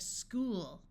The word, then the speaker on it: school: CH sounds like k in some words, especially if the root word was Greek. In this word, OO says oo, so we have school, ache.